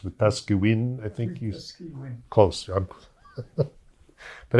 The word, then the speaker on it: Wetaskiwin: And of course, I'm mispronouncing it, right? It's Wetaskiwin, I think you...